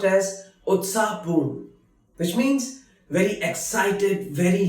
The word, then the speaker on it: उत्साहपूर्ण: Utsapurn, which is pronounced as Utsapurn, which means very excited, very lively.